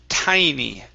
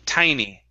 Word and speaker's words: tiny: good uh right here this word is pronounced tiny instead of teeny tiny tiny good uh next